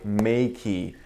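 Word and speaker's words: Meike: sent to me by Makey that is the correct way to pronounce it I verified with their representative through email so I was pronouncing it wrong this this entire time so my apologies anyway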